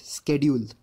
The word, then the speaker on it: schedule: And this word again, schedule, which we most of us mispronounce, but its correct pronunciation is scheduled.